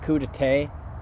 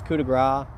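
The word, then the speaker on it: coup de grâce: of this where we finish off with the coup de grace, I think it's called. But for some reason, some people pronounce it coup de thé.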